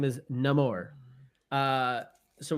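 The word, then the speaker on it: Namor: game with neore so I've never heard anyone pronounce that way everyone pronounce it neyar so that's how they pronounce it in the game buddy okay and that's how they pronounce it in Black Panther well we'll get to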